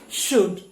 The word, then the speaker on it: should: kudz should and word so letter l is silent here good should and would but in